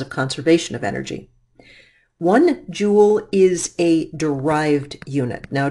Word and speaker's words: joule: and the Joule spelled jou le but it is pronounced Joule as in jewelry is abbreviated with capital